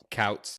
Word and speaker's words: Kouts: born in Valparaiso, because Couts, Indiana, it's Kouts, Indiana. It does not have a hospital. It's a like 1,100 people or something like that. How do you say it? Couts.